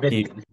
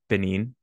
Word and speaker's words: Benin: It's You, Benin. Benin.